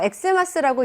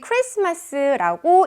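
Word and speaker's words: Xmas: 제가 지금 편의상 크리스마스랑 엑스마스를 구별하기 위해서 엑스마스라고 이야기를 하고 있지만 여러분들은 그렇게 말씀하시면 안 되고요. 반드시 크리스마스라고 읽어주셔야 한다는 거 기억하시면 좋겠고요.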